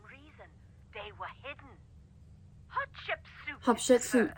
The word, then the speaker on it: Hatshepsut: Hatshepsut, that's how it's pronounced.